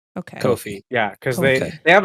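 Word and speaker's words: Ko-fi: think it's pronounced uh kofi okay kofi yeah cause they they have a they have a tweet somewhere that's like uh kofir rhymes with no fee okay well you do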